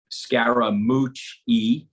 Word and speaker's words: Scaramucci: nickname so I have four syllables of my last name it's Scara mooch e so he was calling